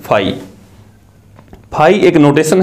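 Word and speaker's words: φ: इसको क्या बोलते हैं, फाई। मैं यहां लिख देता हूं स्पेलिंग, आपको बोलने में आसानी रहेगी। इसको क्या बोलते हैं, फाई।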